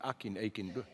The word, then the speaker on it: Akin: Responding to this fury, Akin, how do you pronounce the name? Akin.